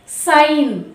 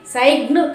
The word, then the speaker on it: sign: అలాగే నెక్స్ట్ ఎన్, సైన్, SIGN సైన్. చూస్తున్నారుగా చూడండి, అది కూడా జీ అనేది ఎన్కి ముందు వచ్చింది కాబట్టి అది సైన్ అవుతుంది కాదు, సైగ్న్ కాదు, జీ పలకకూడదు.